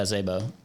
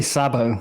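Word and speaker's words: Szabo: making bitcoin transactions yeah zebo that's how you pronounce it right yeah i say sabo but i might be saying it wrong you also say it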